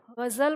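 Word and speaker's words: ग़ज़ल: अब इसी तरह शब्द था गजल, जब हम बोलते थे गजल, तो अब जब हम गजल को लिखने जा रहे हैं तो हमारे पास ग ज र, अब इसका उच्चारण यहाँ क्या आ रहा है? ये लिख क्या गया? गजल लिख गया, लेकिन ये बोला क्या जाता है? गजल बोला जाता है।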